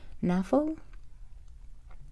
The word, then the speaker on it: Knafo: an Oracle deck by the artist Noah NAFA I assume the K is silent this deck is really